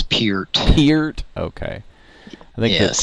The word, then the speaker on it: Peart: It's not Pert? It's Peart.